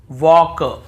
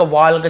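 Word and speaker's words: walk: देखिए यहां पर भी हम टॉक टॉक वॉक वॉक चॉक चॉक योक योक फोक फोक ऐसे पढ़ रहे हैं। कहीं पर भी टॉल्क वाल्क चाल्क yolk folk नहीं पढ़ रहे हैं।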